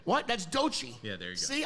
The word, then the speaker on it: Doechii: That's Doechii.